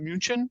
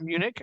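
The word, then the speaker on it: München: I will call it Munchen and I will call it being if I'm speaking in English I call it Munich and I call it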